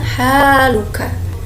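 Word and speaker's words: حالك: keadaanmu tuh bahasa Arabnya Haluka kesini haknya hak tipis ya bukan hahaha Bali pengucapannya Haluka jadi hanya panjang keyfa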